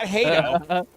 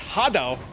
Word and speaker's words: Hato: Yeah, it's not Hato. It's Hado, like Hadouken.